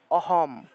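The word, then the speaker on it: অহম্: নিয়া উচ্চারণটা হবে অহম অহম এখানে দেখুন অহম ম টাকে পূর্ণ উচ্চারণ করতে হবে এটা মানে এই দুইটা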